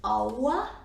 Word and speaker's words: hour: And it should be hour, but it is not. No, it should be horror, probably. So ha here is silent again. And R is silent in British English, but again, it's tricky. I will show a little bit later what happens with R. But generally, yes, this word is hour.